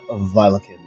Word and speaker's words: Violekin: Vilakin or Veldikin is what it's more common as, but Vilakin is a more easier term to pronounce because not many people can pronounce Velikin.